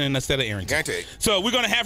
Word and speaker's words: Arrington: fling Fleming Fleming I'm sorry you know I mispronounced my name I say Arlington and AA Arington so we're going to have her coming up